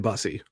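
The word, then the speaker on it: Bussi: It's Brandon Bussy.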